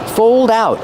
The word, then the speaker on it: fold out: Fold out. Use the long O like old and cold plus a dark L. Fold. Old. Cold. Fold out. Link the sounds.